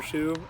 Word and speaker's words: Hsu: My name is Shu. Uh my last name is called HSU. Uh it's pronounced like a shoe though, like a tennis shoe.